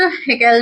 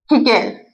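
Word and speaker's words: Haeckel: Ernst हिकल ने। Ernst यह इसकी स्पेलिंग है। हकेल। इसे हम हेकेल भी बोल सकते हैं।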